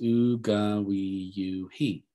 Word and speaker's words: Uganwiyu: Now, when you spell it out, it's Uganwiyu-he, but a lot of times with Cherokee nouns, the final vowel is not voiced. Uganwiyu is what most people say.